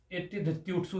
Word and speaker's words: एत्येधत्यूठ्सु: जो पहली बार पढ़ता है उसको उच्चारण में दिक्कत आ जाती है। इसमें 6189 है। आप एत्य धत्युट्सु एत्य धत्युट्सु एत्य धत्युट्सु एत्य धत्युट्सु एत्य धत्युट्सु एत्य धत्युट्सु एत्य धत्युट्सु एत्य धत्युट्सु।